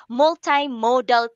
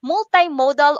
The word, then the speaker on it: multimodal: Tutor Ruby, gusto lang natin ipaalam sa mga cuties natin na multimodal or multimodal are two acceptable pronunciation of this word. Okay, cuties? Multimodal or multimodal are acceptable pronunciations of this word.